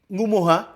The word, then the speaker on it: Ngumoha: eh sayap kirinya Liverpool Ngumoha Ngumoha Itu kan dibacanya sebenarnya N Gumoha N Gumoha Karena kita NG itu dibaca eng, jadi Ngumoha Ya tapi enggak bisa